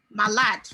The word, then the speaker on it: malade: malade, When you look at the spelling of malade, it's M-A-L-A-D-E. Previously, I would have said malade. But from this research today, I've realized that we don't pronounce the E. malade, So it's just malade.